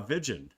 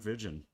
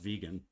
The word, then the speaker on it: Vigen: Brent Brent uh Vigen, that's who it is, right? Brent uh Brent Vigen. Um, I don't think it's pronounced vegan.